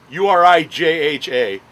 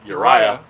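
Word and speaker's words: Urijah: you're you're no you're raicha urijha supposed pronounced uriah faber who you see on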